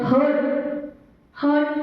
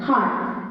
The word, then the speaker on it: heart: Last time when practices were going on, we heard some of the children, their pronunciation, that hurt is not that, heart. H-U-R-T, hurt, and H-E-A-R-T, heart. Two different things.